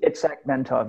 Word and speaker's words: Itzhak Bentov: Is that probably the best way to pronounce it? Itzhak Bentov, yes.